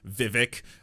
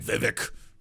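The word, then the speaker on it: Vivek: hey by the way my name is Viv it rhymes with cake it's very easy there you go please learn my name and everyone's like yes well you're one of the good ones Vivic uh what did Alex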